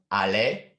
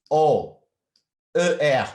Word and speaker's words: aller: And for irregular, aller, dormir, connaître, to go, to sleep, to know.